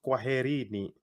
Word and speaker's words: kwaherini: If you wanted to say goodbye to many people, you'd say it is as kwaherini. Kwaherini. Can you try and pronounce that?